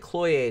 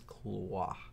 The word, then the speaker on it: Cloyes: like uh CLA CLA it looks like clo to me um but every single documentary I watched and when I looked up the thing they said that that was how it was pronounced it was clah clah so I'm like so